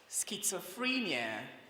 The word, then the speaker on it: schizophrenia: There is no T in that word, but you have the sound T in that word.